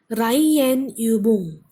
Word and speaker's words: Reihenübung: Reihenübung. Reihenübung. So the stress is on Reihe.